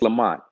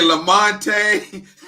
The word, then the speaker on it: Lamont: Actually, it's Lamont. The E is silent. Yeah, Okay. it's Lamont. Yeah, Because sometimes I say Lamonte, right.